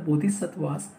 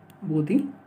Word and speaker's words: Bodhisattva: No Sanskrit means है इसका बोधिसत्व, that is a word का जो pronunciation that is अ बोधिसत्वास, और इसका जो पाली और द सिंपलेस्ट फॉर्म है उसमें इसका प्रोनाउंसिएशन है बोधिसत्ता.